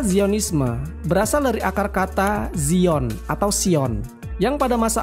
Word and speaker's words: Zion: Istilah Zionisme berasal dari akar kata Zion atau Sion, yang pada masa awal sejarah Yahudi merupakan sinonim dari kata Yerusalem. Zion adalah pengucapan dalam bahasa Inggris. Dalam bahasa Latin akan disebut Sion.